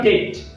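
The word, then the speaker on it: debt: ठीक आहे, तर याच्यानंतर बघा डेट असं त्याचं प्रोनाउन्सिएशन आहे. डेट म्हणजे कर्ज किंवा ऋण असा त्याचा अर्थ आहे. तर याच्यामध्ये देखील बी हा साइलेंट लेटर आहे.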